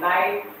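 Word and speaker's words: knight: जैसे क्या पढ़ते हैं सर, जज में भी साइलेंट, नाइट नाइट पढ़ते हैं, नाइट में भी के साइलेंट है, जज में भी डी साइलेंट है, नॉलेज में भी के साइलेंट है, डी साइलेंट है।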